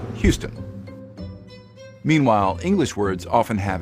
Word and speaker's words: Houston: on words for example all French words are stressed on the final syllable usually with a higher pitch and greater volume that's why French speakers will call the Texan City Houston instead of the English Houston meanwhile English words often